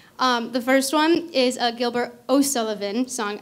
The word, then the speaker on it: Gilbert O'Sullivan: first one is a Gilbert O'Sullivan song I keep making the mistake of mispronouncing it or like mumbling and so people think I'm saying Gilbert and Sullivan I'm not Gilbert O'Sullivan and then followed by